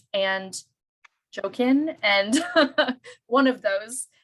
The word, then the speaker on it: Jachin: We did listen to a bunch of pronunciations online, and then our teacher, my specific teacher, calls it Joaquin, but it's Jachin, but I'm sure there's other spellings.